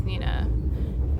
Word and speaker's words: Neeina: it you know it's it's pronounced the same way as Nina the only reason my